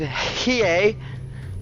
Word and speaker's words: Hiei: It is Hiei, and I had to ask about 30 times how to pronounce that, but I believe I have it down with Hiei. Perhaps more emphasis on the H for more of a hey, but that remains to be determined. For now, he will just simply be Hiei.